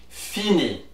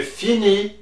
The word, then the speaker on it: finis: So for these ones, we do not pronounce the S at the end and we do not pronounce the T at the end. We just say fini. You say je finis, tu finis, il finit, elle finit.